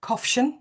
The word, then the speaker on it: Kofshan: You pronounce my surname Kofshan, if you're wondering.